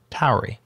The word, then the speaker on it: Tauri: This repo that's maintained by the Rust team has made changelog news in the past, but Daniel Thompson of Tauri, yes, that's how you pronounce it, Tauri, recommended it on the changelog, so we linked it up again.